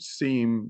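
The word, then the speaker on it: SIEM: I've seen s-i-e-m and I like to call it seem because it's I.E and and they're saying oh it's pronounced Sim but tomato tomato Sam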